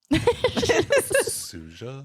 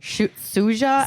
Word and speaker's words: Suja: gram of sugar how do you say that suja suja s u j a or iic cold pressed